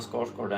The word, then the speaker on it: Skarsgård: Sweden, just as Stellan Skarsgård and Alexander Skarsgård. As they say in the US. Skarsgård. They have a real hard time pronouncing the O in Skarsgård.